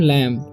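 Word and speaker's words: lamb: का उच्चारण हुआ है यहां पर बी का उच्चारण नहीं होगा ठीक है इसे पढ़ेंगे हम लैम ठीक है प से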